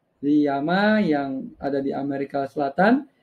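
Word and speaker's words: llama: sebagai ya Ma ya tulisannya ll ama Tapi kalau dalam bahasa Spanyol tuh dibacanya sebagai l y ya ma iya ma yang ada di Amerika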